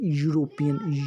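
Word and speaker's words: European: जब हम इसकी साउंड देखते हैं, ई को हम कैसे प्रोनाउंस करते हैं, यूरोपियन, य से शुरू हो रहा है, इसलिए इसके साथ ए है ना कि बाबुल है।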